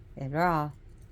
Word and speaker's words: Hera: and of course Hera ra because the H is not pronouncing Greece Greek takes over Ray